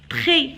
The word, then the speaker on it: très: Le papillon vole très. Alors ici, j'ai barré le S parce que je ne le prononce pas.